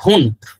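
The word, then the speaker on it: Wundt: উচ্চারণটা এখানে ভুন্ট বলা হয়েছে। তো যাই হোক, এটা হবে সঠিক উত্তর, ভুন্ট।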